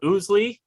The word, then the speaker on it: Ousley: up front today i am talking to jim oozley did i pronounce that correctly you are actually one of